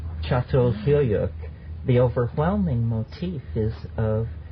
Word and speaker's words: Çatalhöyük: It's actually spelled C-A-T-A-L, but it's called Çatalhöyük.